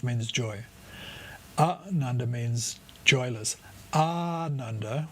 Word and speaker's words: Ananda: Ananda, with a long A at the start, at least said for at least double the length of a short one, Ananda means joyful.